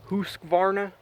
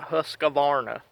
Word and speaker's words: Husqvarna: like yeah I think you're supposed to pronounce that Husqvarna but I'm an American and that's called a Husqvarna Amen brother got kind